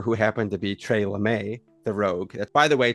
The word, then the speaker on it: LeMay: And it's spelled lame, but there's an accent on the E.